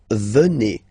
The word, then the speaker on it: venez: Then classic ending for vous, Z here, and then you pronounce it et, vous venez. Vous venez.